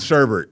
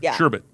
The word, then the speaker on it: sherbet: Yeah, cuz it's not spelled with another R, but we'll have to look that up after the show. But Okay, well, it's not if it's not spelled with another other R, then don't put it in there. Sherbet. Sherbet. Say it fast and it'll sound Kind of sounds like ribbit, you know.